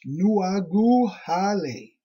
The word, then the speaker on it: Nuagahali: Nuagahali, pronounced Nuaguhale. Stargate DNA signet code, seed locations and races.